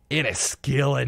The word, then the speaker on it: Enniskillen: Enniskillen, Northern Ireland.